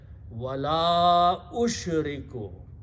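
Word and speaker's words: وَلَا أُشْرِكُ: Also because you have a hamza here, and this alif of la, because of hamza, should have a mad in the pronunciation. So you have to stretch wala ushriku.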